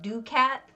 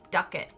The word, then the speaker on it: ducat: duck it was said ducat and he got corrected all the time for it he's like no it's not ducat it's duck it and so he'd get